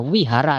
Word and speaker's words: vihara: Nulisnya wihara sejak vihara tapi harus dibaca wihara. Lah itu sulit ya, nulisannya pakai V, bacanya pakai V ya.